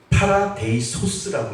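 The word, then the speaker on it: παράδεισος: 이르지 못할 말이라고 이야기합니다 그래서 낙원은 파라데이소스라고 읽어요 파라데이 소스 영어는 그냥 파라다이스 제가 작년에 집사람하고 부활절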